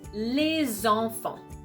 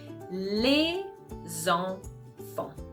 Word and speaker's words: les enfants: So again, you're gonna pronounce les enfants. And if you hear it, suddenly we're back to a CV pattern, okay? Les enfants, okay? So each syllable is starting with a consonant sound, which is okay for the CV pattern, okay?